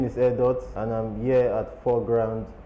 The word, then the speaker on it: Airdot: And in my own mind, when I formed that acronym, I wanted it to be pronounced as Airdot, but the spelling was sounding like Airdto.